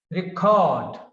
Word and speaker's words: record: Record, record stays on second syllable. Record, record stays on first syllable.